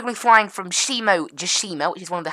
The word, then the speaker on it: Shimojishima: And then we've got this one here as well, Shimojishima. That's how you pronounce that.